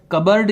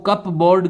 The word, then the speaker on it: cupboard: वैसे तो कप बोर्ड का इसका प्रोनाउंसिएशन आता है, लेकिन नॉर्मली जब हम टॉकिंग में इसको बोलते हैं तो कबर्ड ही यूज किया जाता है।